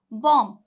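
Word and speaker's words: bomb: तो B silent रहेगा अगर एम के बाद बी आ रहा है तो बी साइलेंट रहेगा जैसे की एग्जांपल देखिए बम बम अब बहुत से लोग इसे क्या बोलते हैं क्योंकि वो बी ओ एम बी पढ़ रहे हैं तो वो क्या बोलेंगे बॉम क्या बोलते हैं लोग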